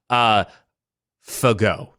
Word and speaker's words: Fagot: It came up as Fagot. So... Fagot. So... Oh, it's a hard G.